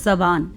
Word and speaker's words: زبان: کر دیا، ثقافت، زبان، زبان، زے پر بھی زبر ہوتی ہے، زبان، رسم و رواج